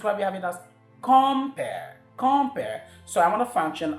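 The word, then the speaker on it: compère: I want to function as that person, and so because it's a noun, the stress should fall on the first syllable.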